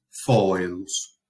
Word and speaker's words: foedus: cualquiera de estos tres, tenemos que poner énfasis a la hora de pronunciar esa palabra en el primer elemento del diptongo. Entonces leemos caelum, aurum, foedus.